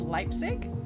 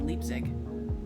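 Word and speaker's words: Leipzig: I thought it's Leipig. I've been saying Leapig.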